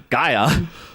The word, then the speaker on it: Gaia: You know what rhymes with fire, guys? Gaia.